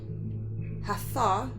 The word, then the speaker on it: Hathor: Beloved by the ancient Egyptians for over 3,000 years, Hathor, pronounced Tha, Hatha. So Hatha is a goddess of light, joy, and gratitude.